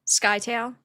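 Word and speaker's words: Scytale: Skytale.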